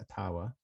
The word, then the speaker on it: Ottawa: supply chain they were in downtown ottawa um atawa however you're gonna pronounce it it is actually legally technically pronounced atawa but everybody pronounces it um they've been down